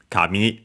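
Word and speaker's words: 紙: Uh gami actually comes from kami kami. This one accent on the last mora uh because it's the one which means paper.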